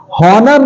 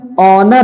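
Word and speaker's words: honor: तो वहां पर एच क्या होता है बिल्कुल साइलेंट होता है जैसे नेस्ट नहीं है ऑनेस्ट है हावर नहीं है आवर है हनर नहीं है ऑनर है यर नहीं है हियर नहीं यर है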